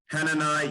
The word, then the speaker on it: Hananiah: Hananiah, Yah, don't look at the I-A-H. Look, what if you spell that with a J, like in German? Yah, as in Yahweh.